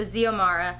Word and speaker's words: Xiomara: right I think it's Xiomara it starts with an X but I think it's pronounced as a Z so Xiomara she grows up in